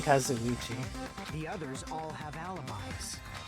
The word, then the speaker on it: Kazuichi: it gonna be us i think i've been pronouncing his name mom i've been for nothing his name as kozoichi but they've been saying kazuchi the others all have